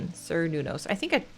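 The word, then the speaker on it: Cernunnos: Sir Nunos, I think I spelled it right. Google says it's pronounced Ker Nunos.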